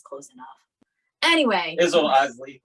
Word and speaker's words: Iseli: Isel, Iseli.